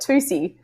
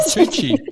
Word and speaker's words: Tucci: Tuki. No, Josh said Tusi. No, I did not say Tusi. I said Tucci. I said the CC is a ch.